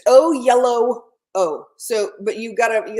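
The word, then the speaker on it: Oyelowo: you say it ly it's basically it's O yellow o so but you gota you gotta connect that W and the O at the end so it's O yellow o o yellow o yellow it's yellow between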